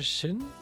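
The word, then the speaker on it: Xin: aus, aber ich glaube, obwohl eigentlich müsste ja Shin ausgesprochen sein im Chinesischen. Also Sinn, Yin, Shin. Weil X irgendwie als so eine Art Chi ausgesprochen wird, for whatever reason.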